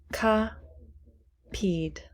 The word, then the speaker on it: copied: Copied. Copied. Copied. It's the same. No extra syllables are added. So the ed sounds like d.